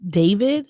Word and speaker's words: D4VD: I think the singer's name is pronounced David. Yeah. But it's spelled David D4VD.